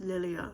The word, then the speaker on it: Lilia: Spencer is one of the side characters that uh Lilia Well, from the audio book, I realized her name is pronounced Lilia, so I shall call her Lilia now, the FMC.